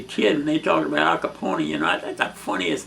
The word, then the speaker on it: Capone: privy to being around, they pronounced his last name with the third syllable, with the E on the end. It was Al Capone.